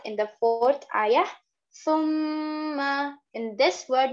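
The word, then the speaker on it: ثُمَّ: Thumma, in this word, make sure to pronounce the tha properly. It is pronounced very softly and very lightly.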